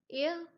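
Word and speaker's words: heir: अब ये बिल्कुल एक आर्निकल लाइन है कि एक हेयर क्या होता है, हेयर यहाँ एक साइलेंट है, एयर बोला जाएगा, इसका एग्जैक्ट प्रोनाउंसिएशन होती है एयर।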